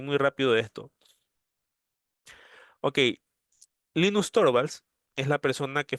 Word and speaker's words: Linux: Ojo que el nombre es Linux, eh, así como lo estoy pronunciando, eh, no Linux. Eh, acuérdense que Linus con S es el nombre del creador. Entonces, si yo le pongo una X al final, lo más lógico es que suene similar, pues no, al nombre del creador Linux.